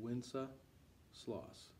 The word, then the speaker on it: Wenceslas: this which is good king wenceslas so say winsa sloss winsa sloss okay here we go 26 i'll